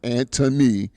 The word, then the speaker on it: Antony: Antony, for those of you who don't know, or Antony is the way it's pronounced.